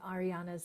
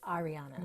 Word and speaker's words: Ahriana: H at the beginning so it is not Ariana it's Arianna Nonna and so if you look up Arianna my website is Arianna